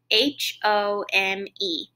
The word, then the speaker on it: home: So the first one is the word home, H-O-M-E. Even there in that word, I hear a long O, and I even see a sneaky E telling that O to say his name. So that word is home.